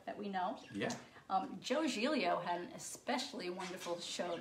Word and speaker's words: Giglio: But he spells his last name G-I-G-L-I-O, like Giglio.